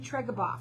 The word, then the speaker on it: Treguboff: I have with me Jason Treguboff, and did I say it right?